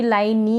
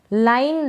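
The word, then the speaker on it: line: फिर है ये लाइन, इसको भी लाइन नी नहीं पढ़ेंगे, ऐसा ही है इंग्लिश में, अगर ई आएगा ना ऐसे लास्ट में, तो इस तरीके से हम ई को प्रोनाउंस नहीं करते हैं। लाइन, लाइन का मतलब रेखा या पंक्ति।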